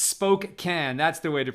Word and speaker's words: Spokane: Ginger says, Spokane. That's the way to pronounce it.